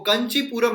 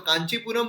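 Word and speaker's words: Kanchipuram: Capital जो है वो कंचीपुरम हमें देखने को मिलती है। यहाँ पर आप देख सकते हो, या तो कांचीपुरम बोलिए या कंचीपुरम बोलिए। देखिए, थोड़ा प्रोनाउंसिएशन जो है वो अलग हो सकता है, लेकिन फिर भी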